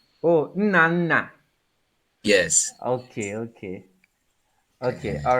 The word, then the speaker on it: Nnanna: Okay, so pronounce it properly so that I can, yeah. It's Nnanna. Oh, Nnanna.